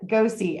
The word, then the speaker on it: Gosey: And he said, yeah, it's as in go see Scott for the jobs board.